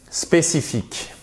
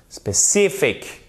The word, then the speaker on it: specific: Ensuite, spécifique. Et là, ce qui fait toute la différence, c'est l'accent tonique. Specific. Specific. Parce que si vous dites spécifique, la personne, elle dit what. I did not understand.